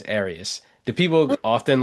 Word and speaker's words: Arias: And I have to say, I mispronounced your last name earlier. I called I said Arias. So, I wasn't sure if it was So, now I know it's Arias.